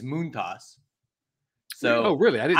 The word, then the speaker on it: Montas: he prefers it or the actual pronunciation is moont toss so oh really I